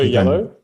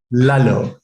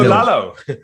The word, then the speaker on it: Lalo: Did you say hello yellow? Hello. Lalo. Hello, Lalo. Yes. I pronounce it like hello, like, which is quite a cool thing.